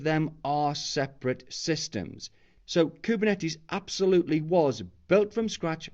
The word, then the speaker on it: Kubernetes: So the word Kubernetes, and that's how we generally pronounce it.